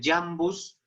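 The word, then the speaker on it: iambus: La I, aprovecho, a buena hora nos ha llegado la I unida a la A, cuando se juntan, se pronuncia como Y, ¿no? Jesús, Jesús Christus, ¿no? El Jambus, aquí se pronuncia Jambus, Jambi masculino, Jambo, Jamdiu,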